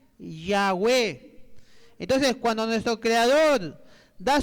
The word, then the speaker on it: Yahweh: Ese Yod Wau ¿qué pronuncia? Yahweh. ¿Está bien? Yod Wau pronuncia Yahweh.